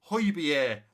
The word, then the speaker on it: Højbjerg: So I know it's Romeo and it's also Højbjerg. Not Højbjerg, not Hobjerg, Højbjerg.